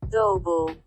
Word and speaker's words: Dubbel: Google Translate seems to give it a Dutch pronunciation, which is more like Dubbel.